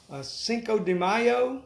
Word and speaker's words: Cinco de Mayo: We're kind of toying with the idea, Sarah, to have a Cinco de Mayo.